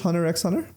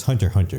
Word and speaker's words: Hunter x Hunter: And then I guess it's Hunter x Hunter. People get mad when you call it Hunter x Hunter. Even though it has an X in it, it's still pronounced Hunter.